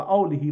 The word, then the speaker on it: آله: به حرمت محمد و آله و صحبه اجمعین اینجا روی ه دو چشم گذاشته یعنی حتما باید این رو ه تلفظ بکنید و آلهی رو حالا